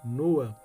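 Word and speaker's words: נֹחַ: Versículo 29 não é no hebraico se pronuncia nua isso revela por Qual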